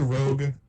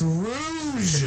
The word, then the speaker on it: Rouge: Do you pronounce it Rogue? Cain? Huge. Is it Rouge? It's Rouge. Rouge.